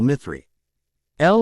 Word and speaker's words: mithril: the actual fabled metal mythree l or mithil depending on the person's preference of pronunciation from tolk's books of